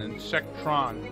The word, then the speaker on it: Insectron: is called insect or apparently I've been saying it wrong the entire time then the little bugs are cold in sectors and the whole thing is called an insect Ron turn any who's yeah